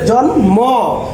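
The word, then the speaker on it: জন্ম: এখানে আছে জন ম, ময়ের উচ্চারণ বজায় আছে।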